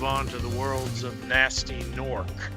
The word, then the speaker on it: Gnasty Gnorc: So, uh, we can be done with Dreamw Weavers and move on to the worlds of Nasty Norc. Gnasty Ganor as they are actually pronounced.